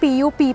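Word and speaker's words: Pupp: और इस होटल का नाम है होटल पू यस you heard me right. इसकी स्पेलिंग है पीयूपी पी और इसको पू कहते हैं।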